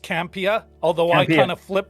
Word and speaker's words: Campea: quick watch so yeah so first it is pronounced campia although i kind of flip between the two